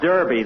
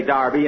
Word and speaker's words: Derby: Darby last Saturday bill that's Derby the English say Darby and the Americans say Derby yeah and the losers